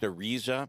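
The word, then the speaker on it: Araiza: Matt Ariza or Ariza, how is it pronounced? Ariza.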